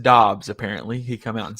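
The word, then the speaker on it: Doubs: that makes sense in fantasy oh hey romeo do duh or it's pronounced dobbs apparently he come out and said that uh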